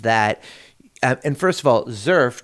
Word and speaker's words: XERF: What's different a little bit about the Zurf is that and first of all Zerf just for those of you listening is spelled X erf.